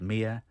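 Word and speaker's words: Myr: re pronounced mystery uh my yr pronounced Mia P pronounced per for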